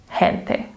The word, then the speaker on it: gente: guide and know, "Ah, the 'G' is pronounced "H" when it comes before "i" or "e," so this word has to be pronounced "gente."